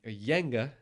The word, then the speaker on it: Jenga: Jenga got to like a Yenga, as it's Yenga. pronounced.